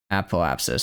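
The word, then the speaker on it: apoapsis: see that I think I think the first syllable is just ah, the second syllable is pop. And then the third syllable is is. But actually the first syllable is app. The second or is app is I guess it's a po and then abapsis. Appoapsis. So it's four appoapsis. So it's a four-cllable word that I'm treating as a three-cllable.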